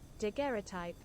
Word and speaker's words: daguerreotype: it's like derogatory but not quite how to pronounce there we go daguerreotype daguerreotype daguerreotype the garrettype a direct positive process